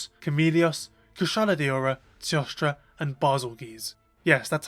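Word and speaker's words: Bazelgeuse: The first came a month after release and it featured Apex Diablos, Apex Ralos, Chameleios, Kushala, Diora, Tostra, and Basogis.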